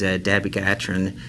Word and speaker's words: dabigatran: So I thought we'd start out first with the new anticoagulant branded as Pradaxa, or generic as dabigatran. Am I pronouncing that correctly?